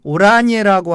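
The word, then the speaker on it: Oranje: 오란의 나쏘 왕가의 비렐름 반 오라니에라고 하는 왕자가 있었는데요.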